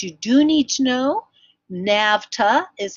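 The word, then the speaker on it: NAVTA: is one that you do need to know nafta is how we pronounce it n a VTA the National Association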